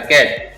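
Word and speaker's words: catch: क ए च, कैच। यहाँ टी साइलेंट रहता है, कैच।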